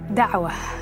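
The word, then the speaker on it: da'wah: Dawa is the way it's pronounced.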